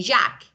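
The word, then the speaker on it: Jacques: is actually u s actually these letters are not pronounced so simply say Jack this is I think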